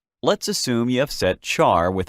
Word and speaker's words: char: is the character type the keyword you must use is c-h-a-r pronounced char it is a string